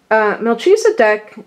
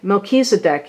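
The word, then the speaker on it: Melchizedek: the deck okay they I'm glad they have the phonetical they have it spelled out like that so we can now know how to pronounce it correctly Melchisedec are now I'm saying Melchisedec is a high priest who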